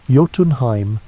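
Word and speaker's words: Jotunheim: The second route stretched down into Yotenheim, pronounced Yotenheim, land of the giants.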